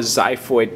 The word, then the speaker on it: xiphoid: which we call the zyo process spelled with the X and so what you'll